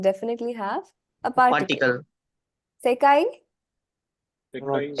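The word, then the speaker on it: 世界: Sekai.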